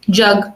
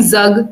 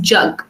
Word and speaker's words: jug: You see pronouncing it correctly, jug. You're not saying zug because it's not zug. It's jug.